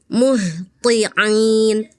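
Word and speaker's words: مُهْطِعِينَ: Kalau tho itu sifatnya istiala artinya pangkalnya naik jadi tebal. Th qi qi ya beda ya. Kalau ta ta ti kalau th ya. Misalnya di surat Alma'arij tadi kakak ee terbacanya gini. Muhtiin. Mhtiin harusnya muhti. Muhhti'in th ya, Kak ya.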